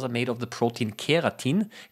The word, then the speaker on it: keratin: Um I have got my own fingernails because fingernails are made of the protein keratin. Keratin not not like the ones in not keratene like in carrots but it's spelled differently.